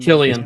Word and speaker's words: Cillian: Or Cillian Jonathan Murphy. Majors. Cillian Murphy. Yeah. He'd be good. He'd actually be good too. Is it Cillian or Killian? How do you say it? Killian.